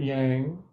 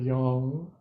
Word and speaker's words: yang: That's how Americans say it, yang, instead of yang.